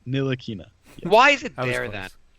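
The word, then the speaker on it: Ntilikina: t oh whatever Nina the t is silent nilina why is it there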